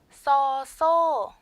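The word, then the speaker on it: ซ โซ: 써소, 써소, 써소. 평성 이성으로 발음이 되죠.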